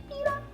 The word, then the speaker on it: Peeta: But he wasn't, it's not spelled like pita bread.